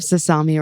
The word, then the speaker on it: Sasami: beat you know okay I have sasami rhymes with salami so I'm I'm on